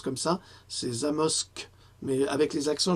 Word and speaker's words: Zamość: prononce comme ça, c'est Zamość, mais avec les accents, je crois que c'est Zamość, en Pologne, qui appartient